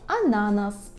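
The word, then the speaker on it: ananas: аutobus аuto Auto або ананас ананас так наголос повинен бути саме такий а на нас бо наголос у польській мові падає на перед останній склад наступна наша буква така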